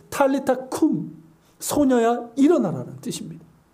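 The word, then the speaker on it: talitha koum: 그러면서 예수님께서 달리타쿰, 그러니까 우리 성경엔 달리다쿰이라고 되어 있어요. 아람어인데 탈리타쿰, 소녀야 일어나라는 뜻입니다.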